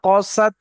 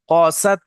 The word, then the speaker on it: قست: ثم كست কা টান হবে قلوبكم না, সুম্মা কসাত, কসাত কফ উচ্চারণ করার সময় ঠোঁট দুটো গোল হবে, সুম্মা কসাত, ثم كست কাসাত হবে না, কসাত, কসাত, কসাত, قست قست